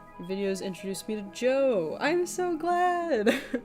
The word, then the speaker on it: Djo: Yeah, you literally just pronounce it Joe. I hate it. I thought it was DeJoe or DJO for like such a long time.